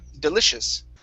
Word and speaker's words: delicious: to the word delicious instead of deli delicious use a short eye here delicious delicious there you go